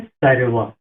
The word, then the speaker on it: সর্ব: তাহলে কি হবে সারেবা। উচ্চারণটা হবে সারেবা।